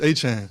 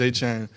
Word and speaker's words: Etienne: So, it is growing up it is Travis Etienne. So, it would be like A-C-H-A-N-E. Uh and that's how you always said Travis Etienne.